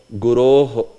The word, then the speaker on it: Guroh: So that Guroh, that H is there. It is short, but it is pronounced because there is hard consonant ahead. Sh, which is a sibilant, which is a hard consonant. So that's why that visarga is there. If there was some soft consonant, this visarga would have gone away.